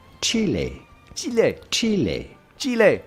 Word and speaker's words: Chile: In Spanish, this is pronounced Chile. Chile. Chile. Chile. But of course in English or American this is normally pronounced chili.